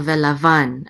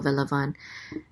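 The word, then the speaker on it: וְלָבָן: So velavan, accent on the last syllable, velavan.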